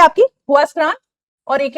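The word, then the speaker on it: Huascarán: That's, एक है आपकी हुआस्क्रान और एक है आपकी मिस्टी। हुआस्क्रान एंड, इसको अगर आप ऐसे प्रोनाउंस करोगे जो इसका एक्चुअल नेम है वो वास्करान बनता है, लेकिन हम क्यों बोल रहे हैं हुआस्करान?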